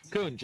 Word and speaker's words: Kunj: So it's Kunj, you said? How do you pronounce his name? Kunj. Kunj.